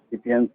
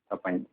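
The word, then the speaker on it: Sapiens: एक करेक्शन जो मैं ये कहूँगा, वो युवल नोआ हरारी की जो किताब है उसका प्रोनाउंसिएशन है सपाइन का प्रोनाउंसिएशन, सिपियंस नहीं, सपाइन।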